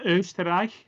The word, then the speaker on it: Österreich: That's Österreich.